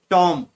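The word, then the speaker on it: tomb: Second टॉम, टॉम में बी, बी के नीचे अंडरलाइन किया गया है, बी को अंडरलाइन किया है टॉम, तो उसमें बी साइलेंट रहता है।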